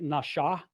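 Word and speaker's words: נשא: When it's over the right side, it's pronounced more like nasha. It's pronounced with a sh sound.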